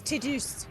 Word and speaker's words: Tidus: This is Tidus. It's Tidus. Tidus. Teeth. Titus, not Titus. Yeah. It's pronounced teeth.